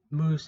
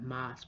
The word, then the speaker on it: Moose: And the WWE exclusive, when Moose, and I keep calling it Moss because it's spelled O-O-S-E, even though it's like, oh, this is Moose.